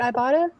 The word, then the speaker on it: Ibotta: Like, I was going to say, I downloaded that Ibotta. Is that how you say it, Ibotta?